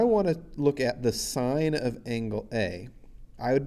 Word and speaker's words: sin: the full word is s-i-n-e we take off one letter to make its abbreviation and so it looks like sin but we don't pronounce it sin we pronounce it sine so when you see